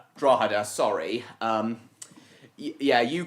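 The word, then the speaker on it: Drogheda: to 6'2 in gauge and the Dublin to Drogdia railway used 5'2 in gauge. That's Drawa. Drawa, sorry.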